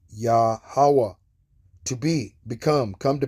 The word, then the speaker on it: Yahweh: His name is Yahweh. Not Jehovah. Jehovah is based on those little dots. Okay? Yahweh, the existing one. The proper name of the one true power. Okay? And his name is pronounced Yahweh.